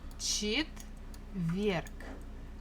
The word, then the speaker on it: четверг: Stress falls on this last syllable. Четверг. So the last letter is G, but we can easily pronounce it as K, just to make it a little bit easier for us for articulation.